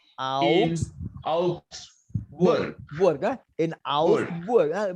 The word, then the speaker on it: Augsburg: In Augsburg. Must pronounce all the word. In Augsburg.